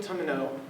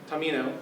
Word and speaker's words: Tamino: feminine affection and sends three ladies to save tomino tamino I was pronouncing his name tamino from a huge serpent